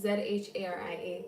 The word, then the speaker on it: Zharia: So no, it's with a Z, Zharia. The H is silent, so mixed.